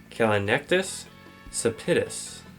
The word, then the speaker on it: Callinectes sapidus: of the blue crab whose scientific name is kinus sapitus which I did not pronounce right so it's on screen right now